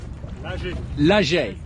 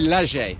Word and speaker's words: Lachey: forgot your second name how do I pronounce it leisure Lachey sorry guys yeah Jeremy Lachey I didn't get the pronunciation quite right earlier so they must